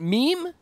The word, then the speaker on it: meme: that case so right off the bat we're pronouncing it meme yeah that's that's true uh it's um comes